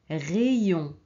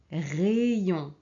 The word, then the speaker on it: rayon: Alors ici, on ne prononce pas aïe, on prononce ei. Ok? Pays, pays, paese. Essayez, essayez. Provare. Rayon, rayon.